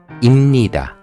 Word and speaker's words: 입니다: So, how to pronounce ‘입니다’? You should write ‘입니다', but you should say ‘임니다'. The reason is that ‘입니다' is difficult to pronounce. ‘임니다' easier to pronounce.